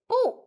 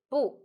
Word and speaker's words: 不: very good so because book is first time so oh press first is tall second tongue and the third time it will keep boo keep the original pronunciation boo for example we say